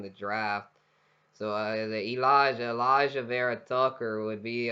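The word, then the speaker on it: Alijah: vera tucker from usc i believe that's how he pronounces it elijah oh elijah okay yeah it's not the way you and i normally would spell it but it's elijah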